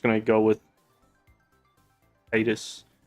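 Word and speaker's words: Tidus: uh I'm just going to go with with Titus it's technically pronounced tetus but I'm calling it Titus calling him Titus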